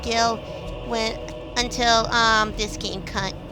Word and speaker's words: Gil: Final Fantasy 7 um I used to pronounce um the currency in final FY Gil to Jill I oh didn't know that it was pronounced Gil when until um this